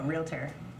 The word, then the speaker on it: realtor: Is it like Making it like 3 syllables. As yes, like nuclear? There's not an A between the L and the T. Why does everyone put an A there?